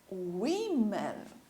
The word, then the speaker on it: women: woman, women. Trocamos a pronúncia. Women.